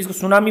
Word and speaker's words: tsunami: good morning student आरमैट class का chapter दा सुनामी बढ़ेंगे सबसे पहले देखिए यहां पर यह नाम है सुनामी इस मिट्टी साइलेंट है यह सुनामी बोलते हैं यह जापानी भाषा का शब्द है